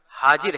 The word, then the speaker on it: حاجر: علیہ السلام کی والدہ کا نام۔ اصل لفظ حاجر ہے یعنی ہا کے بغیر.